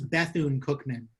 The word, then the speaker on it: Bethune-Cookman: I mispronounced. It's Bethune-Cookman University.